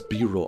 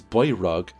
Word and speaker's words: Biro: We also learned Hector's true name, which is Biro. I thought it was Byrog, but eventually I get a cutscene where people say that his name rhymes with hero, so I figured it must be Biro.